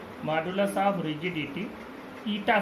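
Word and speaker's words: eta: पढ़ते इसको क्या है, पढ़ते हैं ITA, ईटा प्रोनाउंसिएशन है इसका। और इस तरह के बहुत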